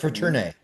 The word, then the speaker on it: Fraterne: Fraterne? No, you had it right the first time for turn. Fraterne, yeah, because sometimes it's like the French pronunciation.